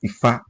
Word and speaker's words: Ifá: about ọmọkùtù òjìre oníkálukú ní ọ̀dọ̀ tiwa we pronounce it as Ifá and what is Ifá Ifá ó sọ ìtàn